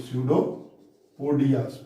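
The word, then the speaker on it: pseudopodia: पोडिया mean foot, पैर इसका, तो ये है इसका पैर, ये है स्यूडोपोडिया, PSEUDO, स्यूडोपोडिया। P is silent here, स्यूडोपोडिया।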